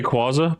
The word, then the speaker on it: Rayquaza: bit of a mix also saw uh Rayquaza or Rayquaza it's definitely Rayquaza but if you pronounce say Rayquaza I'm not going to beat you up hydrosity or hydr city